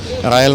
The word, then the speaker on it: Real: പിന്നീട് രാജാവാണ് ഇതിന്റെ പേര് റയൽ മാഡ്രിഡ് എന്നാക്കിയത് റയൽ എന്ന് പറഞ്ഞാൽ റോയൽ എന്നുള്ളതാണ് നമ്മൾ പലപ്പോഴും റിയൽ മാഡ്രിഡ് എന്ന് പറയും പക്ഷെ അങ്ങനെയല്ല റോയൽ എന്നുള്ളതിന്റെ സ്പാനിഷ് ഒരു ഉച്ചാരണമാണ് റായാൽ എന്നുള്ളത് ആ പേരാണ് ഇപ്പൊ നമ്മൾ ഉപയോഗിച്ചു